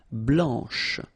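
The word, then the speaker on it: blanche: pronounce the final C and then blanch okay remember when you combine this C you get the sound sh blanch okay so BL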